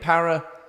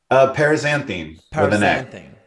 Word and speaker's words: paraxanthine: Paraxanthine. Paraxanthine.